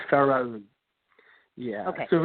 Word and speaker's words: Pharoun: is called, and let's see if I can pronounce this right. No, probably not. The company name is, go ahead. It's Pharoun? It's Pharoun.